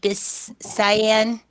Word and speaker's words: Biscayne: I think it's pronounced Biscayne. I think Biscayne, yeah, something like Cayenne. I want to say like it's Cayenne.